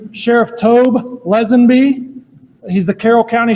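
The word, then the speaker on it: Tobe: And then next is going to be Sheriff Tob Lesenby. He's the Carol County Sheriff. It's T O B E and it's pronounced Tob and last name is Lesnb L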